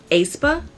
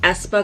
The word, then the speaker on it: aespa: espa if I'm correct my brain wants to read it as a aspa my name is pronounced espa because of the AE how they're like intertwined or whatever but I'm excited to